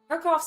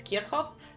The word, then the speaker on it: Kirchhoff: law, fundamentally, Kirchhoff's law is just an application of it.